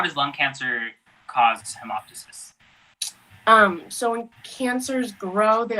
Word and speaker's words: hemoptysis: The denial in hemoptysis.